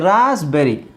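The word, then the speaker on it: raspberry: psychotic ಹೀಗೆ ಇಲ್ಲಿ ನೋಡಿ ರಾಸ್ಬೆರಿ ಇಲ್ಲಿ ಮಾತ್ರ ಪಿ ಸೈಲೆಂಟ್ ಆಗುತ್ತೆ ರಾಸ್ಬೆರಿ ರಾಸ್ಬೆರಿ ಅಂತ ಹೇಳಲ್ಲ ರಾಸ್ಬೆರಿ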